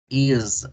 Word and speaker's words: is: ¿Con qué se pronuncia? Con Z. Entonces no es invento del profe, ¿verdad? Is, is.